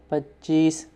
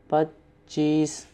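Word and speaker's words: پچیس: 25 Pachchees. Pachchees. Don't make a long sound like pach, but short sound like pach, pach, and then say cheese like we say cheese. Pachchees.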